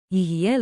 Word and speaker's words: יהיה: Tiny pronunciation tip, say it like a smooth free beat, yi hay yi.